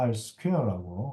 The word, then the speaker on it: R²: 뭐 r²곱이라고 뭐 있는 경우도 있는데 뭐 일반적으로는 우리가 r스퀘어라고 어, 스퀘어, r스퀘어라고 읽으니까 여러분들도 그냥 r스퀘어라고 이렇게 어, 읽는 것이 오히려 더 좀 더 자연스러울 것 같습니다.